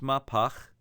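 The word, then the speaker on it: מהפך: sign in a way it's pronounced my pock it's a servant of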